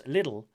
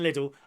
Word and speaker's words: Lidl: One said, every time I have to pronounce Lidl, the Lidl, is Lidl apparently.